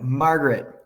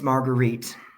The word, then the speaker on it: Marguerite: I'm like, Margaret, but her name is Marguerite.